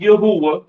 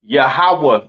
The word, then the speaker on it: Yahawah: it's not Yahweh right it is pronounced yahawah in the Hebrew all right yahawah in